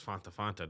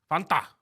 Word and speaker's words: Fanta: They say that they say that it actually almost rhymes with want, but it's more like a fawn.